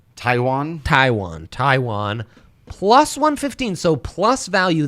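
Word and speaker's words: Taijuan: How do I pronounce Walker's first name? Taiwan.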